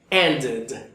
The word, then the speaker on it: ended: Pues si le pongo una ed, no puedo pronunciarlo end igual. Esta pronunciación tiene que cambiar. Ended, ended, ended. Recuerda, entre la I y la E. Ni para allá ni para acá. En el medio, justamente. Ended, ended.